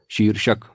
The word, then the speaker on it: शीर्षक: र लगेगा तो यह प्रयोग शुद्ध होगा इसका उच्चारण होगा शीर्षक आगे बढ़ते हैं अगली वर्तनी है संशोधित यह